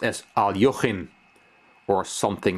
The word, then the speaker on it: Alekhine: former world champion Alexander alakain that's how his last name is pronounced in the English-speaking world but I've been told by a Russian friend that it's actually pronounced as Al yohin or something like that